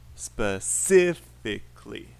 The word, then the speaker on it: specifically: syllable has word stress let's look up specifically where is the stress and yes i can spell so specifically it's the second syllable specifically specifically specifically counting the